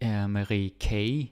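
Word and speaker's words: Marie Key: okay that nister okay Marie K yeah I have to remember it's pronounced K it's a little bit strange but it is what it is Marie K she uh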